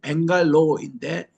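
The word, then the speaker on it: Bangalore: 옛날에는 영어로 발음은 벵갈로인데 현지 발음은 벵갈루루입니다.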